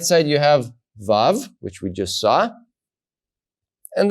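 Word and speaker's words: ו: you know it's above so Zion you pronounce za VAV you pronounce VA okay now we look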